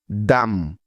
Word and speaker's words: dumb: এম এর পরে যদি বি বর্ণটা থাকে তাহলে ওই বি এর কোনো উচ্চারণ হয় না। তবে এসব শব্দ লেখার সময় অবশ্যই এই বি অক্ষরটা লিখতে হবে।